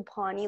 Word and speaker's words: Pani: I made it to Pani like Bonnie, so people would like know how to pronounce it.